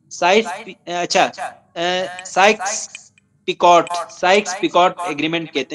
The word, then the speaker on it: Sykes: Convert करने के बाद एक एग्रीमेंट हुआ, उस एग्रीमेंट को कहते हैं साइक्स पिकॉट एग्रीमेंट कहते हैं, इसको माइनर एशिया एग्रीमेंट भी कहते हैं। साइक्स पिकॉट स्पेलिंग लिखें SYKES, ये बुनियादी तौर पर मार्क